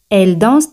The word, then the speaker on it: dansent: Fijaos aquí, las letras ENT, ENT, no se pronuncian. Elles dansent très bien.